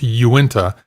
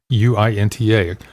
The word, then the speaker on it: Uinta: salt lake city utah uinta i believe is how it's pronounced uinta you went to ipas